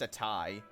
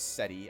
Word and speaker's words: Seti: Oh, Seti? I think it's pronounced just Seti or Seti. Or, I don't think it's pronounced Setai. I'm pretty sure it's Seti.